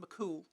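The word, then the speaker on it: mac Cumhaill: It's something out of a something about a legendary Irish hero called Fion Makumo pronounced Makul.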